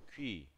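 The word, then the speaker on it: 귀: Oreja en coreano se dice kui. Kui. Así como pingüino, nada más en mi teclado no supe dónde poner esos. No sé cómo se llaman esos dos puntos arriba de U.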